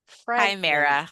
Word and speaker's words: Chimera: Chimera with a with a with a hard Yeah, with a hard K.